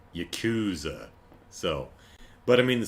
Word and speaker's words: Yakuza: But anyway, the proper pronunciation is much closer to Yakuza than Yakuza.